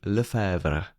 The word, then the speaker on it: Lefevre: in C written in C by here Jimmy Lever if I pronounced it properly.